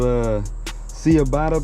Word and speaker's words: ciabatta: And I think this is called Ciabatta bread. Say homie, it's pronounced Ciabatta bread.